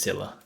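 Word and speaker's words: Scylla: charybdis and cilla and i have to check cilla it is silla got him um anyway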